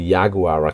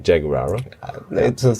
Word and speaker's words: Yaguara: I learned today Yaguara Cachaca, because in the beginning I pronounced it wrong, like Jaguara.